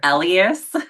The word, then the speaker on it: Elyas: It's Elias. Elias, okay.